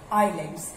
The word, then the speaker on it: islands: आइलैंड्स, इसको pronunciation क्या है? आइलैंड, ISLANDS, आइलैंड्स।